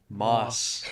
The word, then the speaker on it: MÔS: we're here with Moss, the notable Boise music extraordinaires, for the first episode of BUMcast. First things first, how do you guys say your band name? Moss.